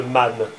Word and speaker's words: manne: C'est-à-dire, quand il y a une syllabe qui fait ne à la fin, par exemple, man, une manne, M-A-N-N-E.